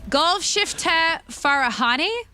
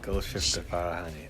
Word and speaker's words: Golshifteh Farahani: How dare you ask me to pronounce this again? Golshifteh Farahani? Yeah. Okay, Golshifteh Farahani.